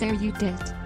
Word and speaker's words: erudite: It should be pronounced as erudite.